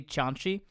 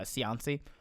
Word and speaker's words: Cianci: his name was buddy chanchi that's the italian way i pronounced it everyone just said uh cianci he was the mayor